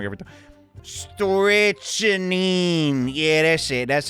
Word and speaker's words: strychnine: I'm just pronouncing this wrong every time. Strychnine.